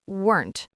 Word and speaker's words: weren't: So it becomes weren't. Yes, weren't. It is just one syllable. Weren't. It sounds a bit like the word burnt. That is a great way to remember it.